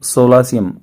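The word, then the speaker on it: solatium: Relief देने के लिए सोलासियम बोलते, सोलासियम इसका प्रोनाउंसिएशन होगा।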